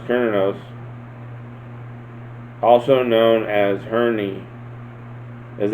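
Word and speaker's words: Cernunnos: sexual powers are increased kroner knows pronounced kernos also known as herni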